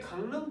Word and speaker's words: 강릉: 다시 강릉 또한 역시 동일하게 앞말에 이응이 뒷말에 리을에 영향을 줘서 니은으로 바뀌어버립니다.